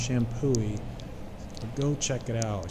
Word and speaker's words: Champoeg: Park it's spelled a little weirdly shampoo wig pronounced shampooy so go check it out it's just a